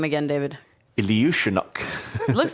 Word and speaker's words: Iljiushenok: Iljiushenok.